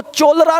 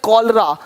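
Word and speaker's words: cholera: अब देखो चोलरा नहीं पढ़ेंगे, चोलेरा, इसको पढ़ेंगे कॉलरा, कॉलरा हो गया, देख रहे हो?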